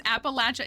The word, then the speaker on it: Appalachia: I will always criticize how you say Appalachia because Appalachia is correct. It goes back to the indigenous people who live there. Like, it's speaking to how they say it. They're not correct. They are not both correct. They're not. There's a native people group from that region. That's the Appalachee. And that's how they say it. Like, it's actually coming from